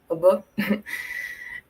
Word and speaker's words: Yby: Ah, não tem problema falar Ibi, tá gente? Tá tranquilo. Não tem como as pessoas inferirem que se pronuncia obô.